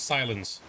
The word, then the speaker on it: Sylens: the action is Hefty so aloy equals aloy silence equals silence that's the correct pronunciation okay let's save the